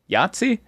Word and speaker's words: Yahtzee: Maybe you bring out Yahtzee Yahtzee? Is that a game? That is a game. Yes, I'm saying it right.